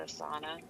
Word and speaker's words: sauna: In the game that I'm playing, they're Finnish, and they pronounce sauna Sauna.